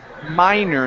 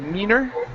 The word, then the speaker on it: minor: Okay, and this word here is pronounced minor instead of meaner.